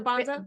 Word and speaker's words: Banza: Bonanza or No, Banza.